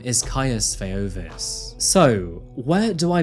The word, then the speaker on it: Caius: his name for example Caius can also be pronounced as chaos but it seems that most of the courtroom footage pronounces it as Caius which of course doesn't